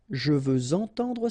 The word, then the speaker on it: je veux entendre: Or then with the liaison, je veux entendre sa musique. Okay, remember we had the same rule. Even if we've got this X at the end, well, with the liaison it will sound like Z.